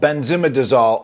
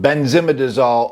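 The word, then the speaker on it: benzimidazole: with a class called Benzema disol opioids I may have said that wrong pronunciation but benzimidazol opioids there's a bunch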